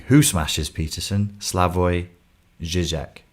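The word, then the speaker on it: Slavoj: saying who smashes peterson slavoy zizek slavoy is spelt s-l-a-v-o-j you should watch it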